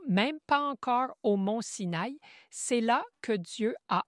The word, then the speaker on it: Sin: D'abord, ils étaient à Mara puis à Élim, ensuite dans le désert de Sin, c'est S I N prononcé Sin et puis ils étaient à Ridim où toutes ces activités ont eu lieu.